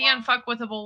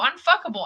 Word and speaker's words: unfuckwithable: And there are people that when they pronounce it, they go unfuckable. I'm unfuckable too. And I go, no, it's not the same thing.